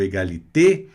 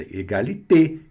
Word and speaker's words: égalité: Mas se ela tiver o acento no final aqui, aí ela vai ser pronunciada bonitinha, com a pronúncia fechada. Égalité, e não é égalité.